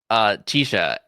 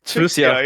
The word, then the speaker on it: Chixia: Chisha.